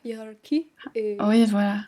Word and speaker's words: hiérarchie: Mais, c’est qu’en anglais, on a le son ‘k’ dans ‘hiérarchie’ et en français, c’est le son ‘SH’.